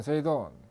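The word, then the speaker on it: 整頓: OS라는 것은 정리정돈 청소 정결 습관인데, 일본어로 발음을 하면 정리는 세이리, 정돈은 세이돈, 청소는 세이소, 청결은 세이게츠, 습관어는 시쯔게, 시쯔게 이렇게 읽습니다. 그래서 OS입니다.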